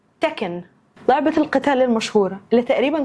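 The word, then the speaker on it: Tekken: رقم 3 تكن، لعبة القتال المشهورة اللي تقريبا كلنا اتربينا واحنا بنلعبها، اسمها مش تيكن، اسمها تكن.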